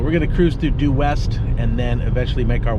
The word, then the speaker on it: Due West: do wit i guess there was some confusion is how it was supposed to be pronounced i guess originally it was do it it was supposed to be dewitt and nobody could pronounce to do it they kept thinking it was due west which doesn't really make sense to me because they don't sound a lot like at all so we're